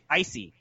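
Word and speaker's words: l'Cie: What's the proper pronunciation? Icy.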